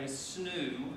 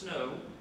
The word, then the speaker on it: snow: what was called a snoo. That's how you pronounce it. It's not pronounced snow. It's pronounced snoo, and it was called the James and Mary, January 12th, 1768.